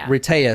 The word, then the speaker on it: Rehtaeh: Rehtaeh.